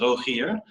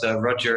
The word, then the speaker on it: Rogier: In Dutch, it's Rogier. But Roger is similar, quite similar, and is fine as well.